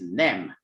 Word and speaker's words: nem: Well, no in Hungarian is nem.